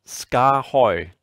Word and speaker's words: SKAARHOJ: that gets asked is how do you say the company name and um this this might help you ska hoy skahoy so there you go